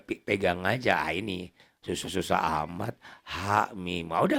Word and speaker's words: Ha Mim: Tiba-tiba dia bacanya hama, bukan hama tapi ha mim. Kayak kaf ha ya ain sad dibaca kah ya as, nah itu jangan digabungin. Bacanya diejah ya, bacanya diejah.